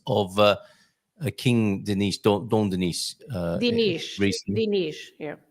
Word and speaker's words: Dinis: Dinis, yeah. Dinis. So that's because of the vowel there.